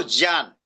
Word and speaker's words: ज्ञान: ज्ञान हिंदी में बोला जाता है। जबकि संस्कृत में उसको ज्ञान जिसे विज्ञान बोलते हैं।